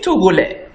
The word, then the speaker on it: Togolais: will say, je suis Togolais. Je suis Togolais. We not say, je suis Togolaise. The S will not be pronounced. Je suis Togolais for a man.